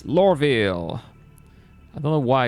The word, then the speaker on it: Loreville: It's not lore reveal, it's Loreville.